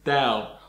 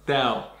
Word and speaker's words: Tao: The way you pronounce it is Tao. Now, like the word Dow Jones, Tao.